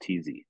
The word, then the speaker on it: Thiesse: But I'm on Instagram too, but I'm on Facebook mostly, and then my last name is Thiesse, pronounced TZ.